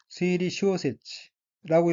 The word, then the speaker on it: 推理小説: 다음 어휘는 한자가 한국어로 재판이고 일본어로는 사이방이라고 읽으며 사이방은 재판이란 뜻의 명사 또는 수루타동사입니다. 다음 어휘는 한자가 한국어로 추리소설이고 일본어로는 스이리 쇼세치라고 읽으며 스이리 쇼세치는 추리소설이라는 뜻입니다.